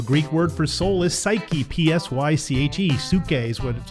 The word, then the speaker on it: psyche: our soul the Greek word for soul is psyche p-s-y-c-h-e suitcase what's how it's pronounced we want to feed our soul with